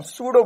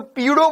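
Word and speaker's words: pseudo: अब पी से, अब सर पी से शुरू, तो ये तो पीडो फोर्स हो गया। पी साइलेंट है इसमें, पी साइलेंट है ना, तो एस से बोलेंगे सूडो फोर्स, लेकिन लगेंगे पी से,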